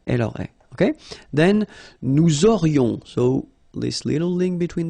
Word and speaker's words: aurions: J'aurais, tu aurais, il aurait, elle aurait, nous aurions, vous auriez, ils auraient, elles auraient.